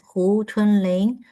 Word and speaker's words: Hu Chunling: And uh, my name is Chunling Hoo and in Chinese it is pronounced as Hu Chunling.